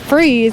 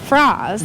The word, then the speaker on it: Fries: Well, maybe that's why it's pronounced freeze instead of fries.